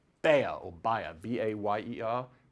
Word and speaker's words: Bayer: So one drug company in Germany was called Bayer, or Bayer, B-A-Y-E-R. How do you pronounce that in America?